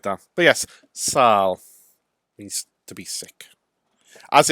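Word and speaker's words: sâl: The Welsh word for being sick is sal. Sal. And it's spelled S-A-L.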